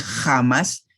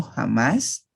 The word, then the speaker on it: jamás: En el centro y occidente se pronuncia un poquito menos débil, pero nunca es una J, nunca se va a decir jamás, sino jamás, ¿verdad? O sea, con una pronunciación lenis.